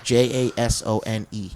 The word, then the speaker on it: Jaeson: Jasone. No. It's in the beginning. EJASON. He's silent. The E is silent in the way I spell it anyway.